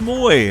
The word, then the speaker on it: Mooij: on the line and it's actually pronounced Moy and like and he